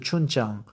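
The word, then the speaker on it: 춘장: It extracts a savory sweetness only amplified by chun jang pronounced chun jang the fermented jet black soybean paste that's a fried in the fat then thinned into gravy for the noodles.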